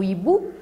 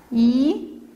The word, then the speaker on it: hibou: Combien y a-t-il de syllabes dans le mot hibou? Voyons ensemble. Hibou. Deux syllabes. On ne dit pas hibou, on dit hibou. Le H ici est muet. On prononce que le I et bien sûr la syllabe bou.